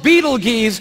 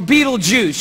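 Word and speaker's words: Betelgeuse: heard about this star it's called beetle geese or beetlejuice you can pick your pronunciation i'm obviously going with beetlejuice and beetlejuice is incredible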